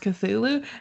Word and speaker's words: Cthulhu: And I'm like, dude, just admit that it's phonetically would be pronounced Cthulhu, and the way that you're trying to make it sound just doesn't exist and it doesn't matter. Like, even if you were take out the T, it Hmm. sounds much more like how he wanted it to sound than what it looks like.